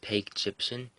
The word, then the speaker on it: Pagyptian: Now, I'm gonna link, I believe it's pronounced Peg Egyptian.